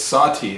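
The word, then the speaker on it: Sahti: the style which is Sati the style is spelled s a TI and this is spelled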